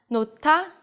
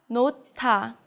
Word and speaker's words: 놓다: In this word, the 히읗 combines with the 디귿 and makes it aspirated. So it becomes a 티읕 sound. 놓다, 놓다.